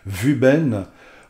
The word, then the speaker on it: Wuben: je sais par contre ça se prononce vu ben propose de bonnes garanties